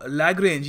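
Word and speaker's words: Lagrange: के बीच में जो लैग्रेंज या फिर लग्रांज भी इसको प्रोनाउंस करते हैं, लग्रांज या लैग्रेंज दोनों प्रोनाउंसिएशन एक्सेप्टेबल है, तो जो लग्रांज पॉइंट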